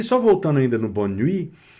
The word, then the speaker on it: nuit: E aqui, só voltando ainda no bonne nuit, nuit aqui também não foi pronunciado a consoante. Então, estão começando a perceber, aqui a consoante T não foi pronunciada. Não é pronunciada.